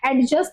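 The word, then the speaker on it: adjust: एडजस्ट इज़ नॉट a correct pronunciation. ए और जे के बीच में जब भी डी आता है ना तो उसे डी को साइलेंट हो जाता है।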